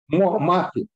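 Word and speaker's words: Mouffe: Mafi. Like, he's using it, by the way, the same Chantal, book. It's spelled Chantal.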